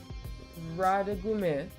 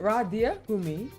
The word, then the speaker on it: Radiergummi: Radegummi and Radiergummi. Think of the deer. Oh right, Radiergummi.